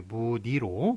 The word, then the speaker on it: 문의: 다른데 자, 우리 지금 저기 그 일일이 문의할 때 그 아까 문의할 때 요 발음이 그 무늬가 예, 무니로 그렇게 소리가 납니다만 요거를 예, 따져 보면은 요게 요걸로 소리가 나야 되는데 예, 실제로 보면 요렇게 소리가 난다는 거예요.